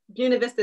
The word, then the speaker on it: Buena Vista: Did I say that correctly? I know there's a Buena Vista is the correct way to say it. Yes, it is. All right, great. It depends if you're from New Jersey or California. That's right. California is buena.